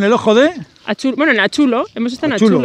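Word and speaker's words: Atxulo: Bueno, en Achulo, hemos estado Achulo, en Achulo, ¿no?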